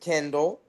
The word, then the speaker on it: Kyndal: Um, guys, my name um I'm I'm best associated with either motor oil or electronic books, but it's spelled completely different. My name is Kindle. So, just like you're saying it, Kindle.